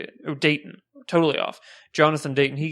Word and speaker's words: Dayton: there may be some humor to it because it's a Jonathan Drake's film, or Dre's, how do you say it? Oh, Dayton.